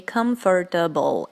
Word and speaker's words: comfortable: Now, many people say comfortable, and this is not right. You should pronounce this word as comfortable.